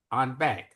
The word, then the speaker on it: en banc: to take the cases on bank. On bank uh is is is the the general pronunciation. It's actually the French en banc.